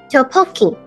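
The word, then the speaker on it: 떡볶이: Tteokbokki.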